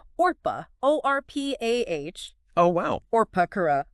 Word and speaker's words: Orpah: isn't even her real name. What? Yeah, it's a mispronunciation of, get this, Orpah, O-R-P-A-H, Oh, wow.